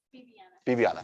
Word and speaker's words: Viviana: And that's spelled with a B, but is it pronounced with a V? That's Viviana.